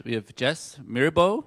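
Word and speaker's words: Myrbo: We have Jess Mirbo, it's pronounced.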